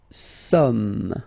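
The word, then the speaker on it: sommes: New some. Okay. Okay. So, you don't pronounce the final S here.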